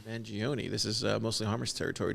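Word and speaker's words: Mangione: is the rid of Luigi how do you pronounce his last name mangion mangion this is mostly harest territory December 22nd Elvis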